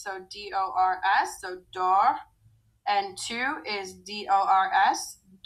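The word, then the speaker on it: dors: on an s so d-o-r-s so dor n-2 is d-o-r-s so these three are all pronounced the same dor d'or the next two new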